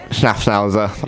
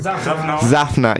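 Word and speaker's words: Szafnauer: So maybe I'll go like Ottmar Schnaffnauser. Like, how do you say his surname? Zafna. Yeah. Immediately corrected by everyone.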